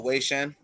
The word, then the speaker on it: Wei Shen: Oh, Wei Shen.